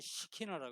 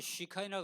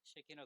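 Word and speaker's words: שכינה: 그리고 이 히브리어로는 시키나라 그래요. 시키나 글로리. 영어로는 시카이나 그러는데 사실 본래 발음은 쉐키나입니다. 쉐키나 글로리인데 이게 뭐냐?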